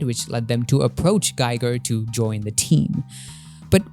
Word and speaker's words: Giger: However, I am rather familiar with a certain Swiss artist behind the design of the xenomorph, H.R. Geiger, or I think it's supposed to be pronounced Giger.